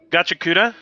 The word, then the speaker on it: Gachiakuta: Gachiakuta?